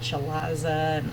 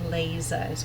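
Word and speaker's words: chalaza: CH a l AZ a lot of people want to pronounce that CH eliza and those sorts of things it's actually lays eyes when it's cold and it's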